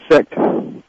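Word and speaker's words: Seeckt: Sect. That's not how it's spelled. Oh, that, according to Ed Butler, is correct pronunciation.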